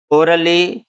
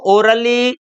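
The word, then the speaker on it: orally: ओके, तो यहाँ हम बोलेंगे इसको आगे फिजिकली, जनरली, ओरली। इसको ओरली बोलेंगे, ओराली, ओरेली ऐसे नहीं बोलेंगे।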